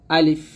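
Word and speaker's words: ألف: উপরের দাঁত নিচে ঠোঁটে পেটে লাগিয়ে বাতাস বের করে হাসি মুখে হাসির ভাব রেখে আলিফ উচ্চারণ করতে হবে, তাড়াতাড়ি টান দেওয়া যাবে না। আলিফ, আলিফ, এরকম।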